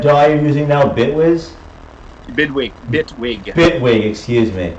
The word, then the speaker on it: Bitwig: Bitwig. Excuse me. Like Bigwig, but. Okay. Like Bigwig, but with VSTs.